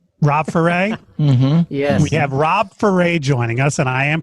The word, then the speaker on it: Ferre: with four a rob for a mm-hmm Rob for a joining us and I am pronouncing that correctly right Rob yep hip hop